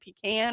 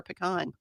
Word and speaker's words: pecan: Oh, Phoebe wants to know, "How do you say pecan? Is it pecan or pecan?" I I've always I've I've heard people the the more north you go, people say pecan.